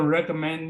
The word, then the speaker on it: recommend: some to the cloud it's not a recommend me it's recommend accent on the third syllable recommended me to toss